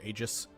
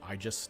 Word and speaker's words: Aegis: for the roots of Aegis which is Aegis or igis depending on which route you are using all three are technically